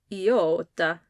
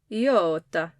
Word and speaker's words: iota: the letter name for the eat sound is iota Yota it can have a long e sound or